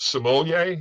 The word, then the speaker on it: sommelier: Is it sommelier? Is that how you say it? Yeah, Sommelier? No, you got it.